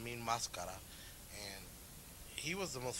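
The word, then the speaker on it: Mil Máscaras: was in WWF a while they they call Mil mascaras but it's actually pronounced mean mascara and he was the most phenomenal wrestler I've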